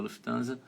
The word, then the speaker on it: Lufthansa: falar para vocês como é que seria a pronúncia em alemão Aparecido Onde fica o balcão da Lufthansa sim exato Manteve sentido Oi Adriana beleza Ó